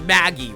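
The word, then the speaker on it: Maggey: gosh is just confirm her name is suppos to be pronounced Maggie right that's the that's the joke Yes master joke you know like a magpie Yep this is a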